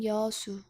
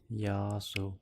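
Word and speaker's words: 여수: I'm from Yeosu. Yasu. Uh-huh. Yeosu. Yashu.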